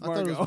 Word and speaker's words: Margot: favorite Margo Margo yeah it's spelled Margot but it's Maro that's how Margo is spelled I know Margo I